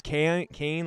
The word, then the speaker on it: Kane: Pronounce Kane like Patty Kane or Sugar Cane.